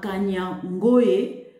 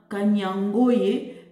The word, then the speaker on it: Kanyangohe: 11h50 ce vendredi la position de M23 à kanyoe dans la localité il faut que je le prononce bien kanyangoye dans la localité de kassirou en groupement de